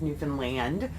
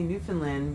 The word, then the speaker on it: Newfoundland: John's, Newfoundland. A lot of you may say Newfoundland, but I found out that's not the right way to say it.